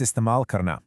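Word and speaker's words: इस्तेमाल करना: Let's break that down. Is ta mal kar na. I'll say it one more time, and I want you to repeat it right after me. Istemal karna. Nailed it. Really lean into that mal sound. It's absolutely key.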